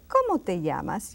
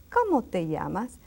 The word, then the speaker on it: ¿Cómo te llamas?: Now, to say it really in good Spanish, you say, ¿Cómo te llamas? You see the intonation. ¿Cómo te llamas?